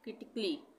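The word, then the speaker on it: critically: यहाँ पे है CRITICALY, यहाँ पे ए आ रहा है, यहाँ पे ए का उच्चारण नहीं होगा, हम इसको क्या पढ़ेंगे? क्रिटिकली, क्रिटिकली। तो ए का उच्चारण नहीं होगा, क्रिटिकली।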